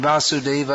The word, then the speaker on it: Vasudeva: Just like there's a lot of difference between Vasudeva and Vasudev.